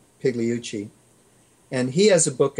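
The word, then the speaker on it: Pigliucci: is massimo hiluci and that's pronounced p-i-g-l-i-u-c-c-i pigleyuchi and he has a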